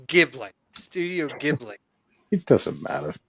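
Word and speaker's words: Ghibli: isn't that a studio jibli movie I think so yeah yeah I knew I recognized that name so fantastic wait did I just call it jibli it's pronounced gibl Studio gibl it doesn't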